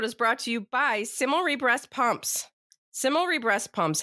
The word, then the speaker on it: Cimilre: And that Similry is spelled CIMILRE.